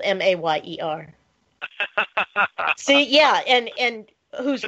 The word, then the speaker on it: Mayer: My baloney has a second name, Meyer. Yeah. Uh-huh. Not anymore. Oscar Mayer is spelled with an A now. Oscar Mayer.